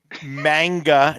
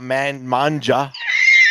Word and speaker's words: manga: And it's manga, not manja. Manga, the hard G, not manja, like pasta pizza.